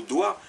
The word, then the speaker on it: doigt: lequel comme le mot doigt d o i GT vous n'en prononcez que trois lettres D o i le